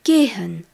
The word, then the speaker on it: gehen: qui signifie apprenons de nouveaux verbes le verbe gen gen g e h e n gen signifie